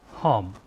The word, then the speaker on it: hum: It is not exactly hum the way that it is pronounced in Hindi, it is hum.